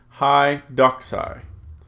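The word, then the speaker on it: ἡ δόξα: But so when I read this one, I want to say hi doxai and keep the accent where that accent mark is.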